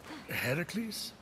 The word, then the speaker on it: Heracles: That thing with your voice. Heracles? Yeah, that. That is how it's supposed to be pronounced.